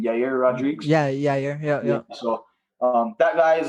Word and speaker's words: Yair: I don't know how to pronounce this guy's name. Yair Rodriguez. Yeah, Yair.